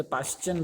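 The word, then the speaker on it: Paschen: मैं अच्छे से लिख पाऊंगा कि नहीं, उसे पाश्चियन बोलते।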